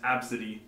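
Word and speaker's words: Abcde: And so far, there's A, B, C, D, E, pronounced Absidy. Nice.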